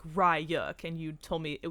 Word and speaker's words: Ryuk: I thought, I love Yuk. I think he's like such a cool villain. Mm-hmm. I thought you didn't say the R. No, it's pronounced Ryuk. You said Yuk.